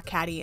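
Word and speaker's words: Kady: I'm like, I should draw Catty, and she also agreed I should draw my character Catty. Now, Catty is based around the word Catty, C-A-T-T-Y, but her name is spelled K-A-D-Y.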